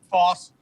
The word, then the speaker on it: Foss: Foss? Foss. He made, Foss, he yeah.